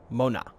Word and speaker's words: mona: to it too but the dovah word is like i said mona meaning mother and looking at it yes that is exactly how you pronounce it mona uh i'm trying to